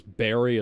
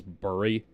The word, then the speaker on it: Barry: how the angry video game nerd pronounces Barry as Burry.